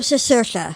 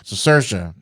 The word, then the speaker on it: Cicerchia: do you say your last name I'm cersa cersa see I had have totally messed that up